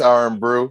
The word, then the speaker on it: R&Brew: Or is that how you say it? R&Brew, or is it R&B brew? It's R&Brew, hip hop's R&Brew.